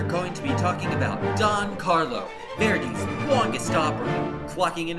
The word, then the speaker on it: Don Carlos: Don Carlo was first performed under the French title Don Carlo, which is Don Carlo with a silent S on the end because it's in French, at the Paris Opera in 1887 in its 5-act plus ballet entirety.